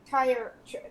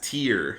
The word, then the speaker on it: Tyr: We're also Lord Harbek has told us that he's interested in buying tire. How do you say that? Tire. No, it's tear, like a tear Tear. from your eye.